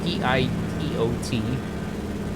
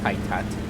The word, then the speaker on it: pitot: between the static air and your pitot, which is spelled P-I-T-O-T, which a lot of people say is, oh, that's a pitot. No, not pitot.